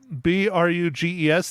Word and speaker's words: Bruges: you saw that movie in b-r-u-g-e-s they he you pronounced that Bruges I think so yeah no I never